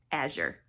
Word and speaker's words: Azure: Hey friends, so yesterday was our monthly Azure Standard drop pickup from the truck, and so I got to show you what I got this month.